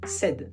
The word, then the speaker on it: said: Et attention, ici on va pas dire s mais on va dire said.